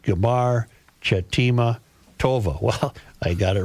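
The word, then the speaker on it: גמר חתימה טובה: Another traditional greeting is Gamar Chatima Tova, pronounced Gamar Chatima Tova.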